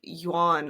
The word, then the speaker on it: Yuan: what the UN Dynasty I think that's pronounced like Yan or like I watched several videos y really Yuan Dynasty yeah maybe it's